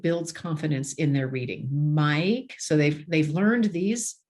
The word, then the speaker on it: Mike: Mike, so they've learned these letters, and the E is silent. It's not Mikey.